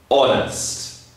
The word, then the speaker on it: honest: also use an for example with the word honest I am an honest person I do not tell lies sometimes honest we do not pronounce the h h it is silent so